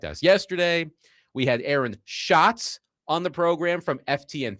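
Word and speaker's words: Schatz: And he made sure to tell Connor before he came on the air, "My last name is pronounced shot, not Shhats."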